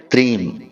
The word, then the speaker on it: त्रीम: तो अब ध्यान से सुनिए, इस मंत्र का उच्चारण हमें करना है त्रीम।